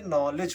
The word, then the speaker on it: knowledge: तो इसमें देखिए एन के पहले के है इसलिए के साइलेंट है और जी के पहले डी है तो जी डी साइलेंट है। इसको नॉलेज नहीं पढ़ेंगे। इसको क्या पढ़ेंगे? नॉलेज पढ़ेंगे।